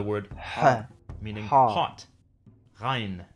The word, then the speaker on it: ghain: Ghain. Some say that this is similar to the French R sound.